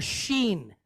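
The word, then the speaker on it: ש: it like an S if it has one on the right we pronounce it like an sh so so we have the letter Sheen then we have the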